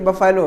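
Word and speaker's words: buffalo: बहुत सारे जैसे कि बफेलो, बफेलो को सही प्रोनाउंसिएशन बफलो होता है। अब बफेलो बोलेंगे तो आप अच्छे स्पीकर नहीं कहे जाएंगे, यू हैव टू से बफलो, या और जैसे वाज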